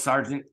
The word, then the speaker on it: sergeant: How that spells sergeant. Thank you, English language, for making something more difficult than it needs to be. Sergeant should be SARGENT. Sergeant. Two syllables, real easy. Sergeant.